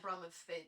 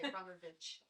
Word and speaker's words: Bromwich: As long as I'm Bromwich, most people say Bromwich.